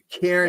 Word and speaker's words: Kiernan: Did I pronounce that right? You did. Kiernan, yes.